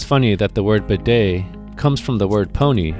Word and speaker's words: bidet: You know, I think it's funny that the word bedet comes from the word pony in French, which explains why the T is silent.